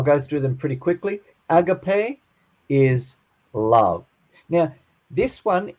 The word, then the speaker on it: agape: Agape is love.